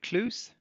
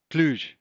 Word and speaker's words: Cluj: My partner was in uh is it Clus? She was in Clus in January. Is that how you say it? She said it was beautiful. She had a work event there. Cluj. That's it.